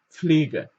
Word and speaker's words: Pflege: Ihr könnt auch dieses P ein bisschen weglassen, aber am besten zum Anfang Pflege, die Pflege.